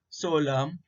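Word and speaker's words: psalm: देखो यहाँ एग्जाम्पल दिए हैं, देखो कोलम, डैम, सोलम, ऑटम। तो इसमें आखिर में एन है लेकिन वो साइलेंट हो जाता है।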